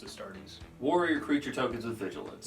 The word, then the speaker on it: Astartes: I think it's pronounced Astartes. Warrior creature tokens with vigilance. it is Astartes.